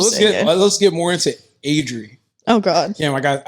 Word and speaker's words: Adri: kind of white though exactly okay so it's adri adri yeah okay all right can you say it